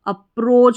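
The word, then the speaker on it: approach: A double P आर अप्र और ओ ए ओ सी एच च अप्रोच बन गया पूरा A double P आर ओ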